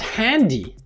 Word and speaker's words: Handy: So the word cell phone or mobile phone in German is called handy. Hand is an English word, Y-E, in the pronounced as E, like IC, is an English suffix, and they have been put together.